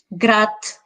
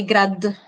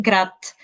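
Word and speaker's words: град: really causes a problem we we never pronounce a voiced one at the end of a word for example um grat i cannot say grad i will say grat nosh and in other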